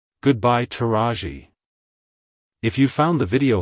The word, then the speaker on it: Taraji: to pronounce it correctly emphasize the second syllable r ah and lightly PR anounce the e e at the end like Hello taji Goodbye taji if you found the